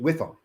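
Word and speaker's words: WIIFM: FM w i FM and I always pronounce it whiff them what's the whiff them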